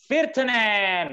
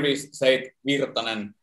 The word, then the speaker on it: Virtanen: live from Finland, Virtanen. Did we pronounce it right? Virtanen, right? Virtanen. Did we pronounce it right? Yeah, in here we say Virtanen, like really monotone.